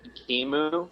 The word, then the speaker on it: Ekimmu: It's actually pronounced Ekimmu. Ekimmu? Yeah. Okay.